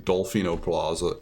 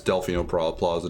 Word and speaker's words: Delfino Plaza: basically the same thing I think Delfino Plaza but just saying dolphino Plaza just saying it wrong but I remembered it's Delfino Plaza just before I said